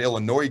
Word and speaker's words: Illinois: you look at that illinois game where the s is silent and we lose to